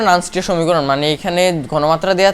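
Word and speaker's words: Nernst: নার্নস্টের সমীকরণ অর্থাৎ নার্নস্ট, উচ্চারণটা নার্নস্ট হয় আর কি, লিখতেছি তবু আমি এটা লেখা দরকার।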